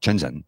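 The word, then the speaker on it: Shenzhen: differently and shenzen also operates differently shenzen is shenzen is how it's pronounced shenzen is how it's spelled shenzen is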